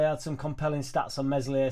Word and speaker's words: Meslier: Statsman on Square Ball today had some compelling stats on Meslier, Silent S.